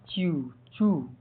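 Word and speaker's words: chew: CHE का उच्चारण pronunciation च्यू चू।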